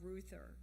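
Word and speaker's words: Reuther: his name first Walter Ruther because it's not a name you hear anymore who's that it's spelled kind of strange sort of like Reuters r-e-u-t-h-e-r it's a German name we it's not heard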